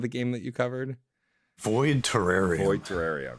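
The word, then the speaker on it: Void Terrarium: And because I can't always remember how to pronounce it quite right, Lucas, what was the name of the game that you covered? Void Terraria.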